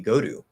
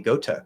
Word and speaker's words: go to: we're going to reduce we're going to change the t into flap d and b go to go to as the single most common pronunciation you'll probably hear can you say go to yes can you say godu yes can you say gota yes none of them are wrong this is all a